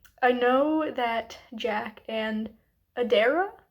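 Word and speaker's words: Adaira: know that Jack and Adera I think is maybe how her name is pronounced a d a i r a i know they're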